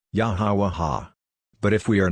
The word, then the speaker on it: Yahweh: For a start, I know of no better way to say his name than to say Yah, Ha, Wah, Ha, Yahweh.